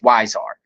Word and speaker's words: Huizar: last name but uh Magnolia told me it's wisard so wisar right Eli wisar and they're